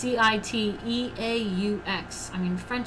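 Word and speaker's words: Cîteaux: One group of Benedictine monks founded a new order at Sitio? Sorry, I don't know how to say it. In eastern France in 1098. It's Citeaux.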